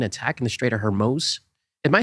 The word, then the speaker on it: Hormuz: Yeah, could work, but no. Hormuz is correct.